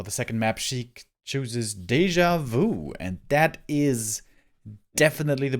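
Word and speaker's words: déjà vu: say deja vu or deja vu because one is the english pronunciation because i'm casting in english but i guess the proper way to say it in french is deja vu right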